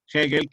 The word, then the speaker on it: Hegel: filosofía que fue hegel hegel que se escribe con h en gel con g hegel y qué cosa interesante